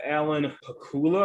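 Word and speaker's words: Alan Pakula: people um number eight from me directed by alan hakula i believe is how you say it based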